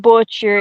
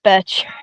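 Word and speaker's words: Boetcher: The O is silent. It's not butcher. It's Betcher.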